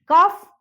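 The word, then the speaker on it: cough: क्या है देखिए, कुछ वर्ड्स ऐसे भी हैं जिनके लास्ट में आया GH साइलेंट नहीं होता, नहीं होता, इस चीज पे गौर करें, नहीं होता। वो वर्ड्स क्या है देखिए, रफ, कफ, टफ, इनफ।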